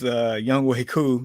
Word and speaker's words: Younghoe Koo: My kicker is Younghoe Koo. Thank you for the pronunciation a couple years ago. You're welcome. You're welcome. You're welcome. No, it is not what it looks like.